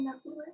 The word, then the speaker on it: nebula: A nebulae. Yes, you got the right answer. It’s pronounced a nebula, but the plural of nebula is nebulae which was your answer.